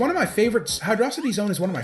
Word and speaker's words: Hydrocity: But yeah, so Hydro City. First off, the most obvious one, it's all one word. All one word. They didn't spell it Hydro City, they spelled it Hydrocity. Rhymes with velocity.